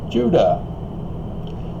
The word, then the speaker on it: Judah: In Hebrew, it's not pronounced with a J. That's a European corrupted version of the phonetic phoneme. It begins with what's called the yod, iota in Greek. You may recognize that, not one jot nor tittle. Again, it's iota and tittle. And so Judah is phonetically the equivalent of Utah.